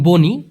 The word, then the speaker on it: bunyi: আর আপনি যে বলেছেন বনি, ভুল সবারই হতে পারে, আমারও হতে পারে। বনি হবে না ভাইয়া, এটা ভুল। মূলত উচ্চারণটা হবে বুনি।